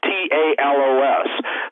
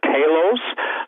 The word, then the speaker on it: Talos: robots okay robots atallos t-a-l-o-s some people pronounce it talos some people pronounce it